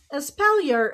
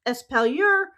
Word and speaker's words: espalier: Espalier is a French word derived from the Italian spalliera, which means something to rest the shoulder against. The term can be pronounced espalier or espalier.